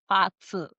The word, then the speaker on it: BaZi: to be what I'm going to say is Bazi. Yes, it's um we actually pronounce it as patu.